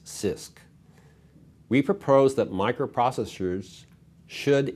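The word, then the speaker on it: CISC: complex instruction set computers abbreviated c-i-s-c and pronounce sisk we propose that microprocessors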